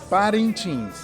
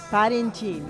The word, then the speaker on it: Parintins: Help me to pronounce that name again. Parintins? Parintins. Parintins.